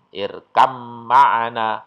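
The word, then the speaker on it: ارْكَبْ مَعَنَا: mah rotinya sejenis maka cara membacanya backsoundnya lenyap cara bacanya irkam irkam maana bukan air kopma Anda tapi irkam mana itu ya Jadi huruf ba' bertemu dengan mim sukun bertemu dengan mim Jadi bukan Tirta bgmana tapi irkam mana NU dan yang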